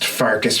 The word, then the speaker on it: Pfarcus: This time with just Pfarcus for the moment. The P is silent.